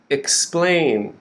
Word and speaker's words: explain: at explain okay so you can see the stressed part of the word is splain splain okay so the that second green line that vowel sound is a slain and the beginning is x it's quick ex ex explain we're stressing the second syllable explain now we go down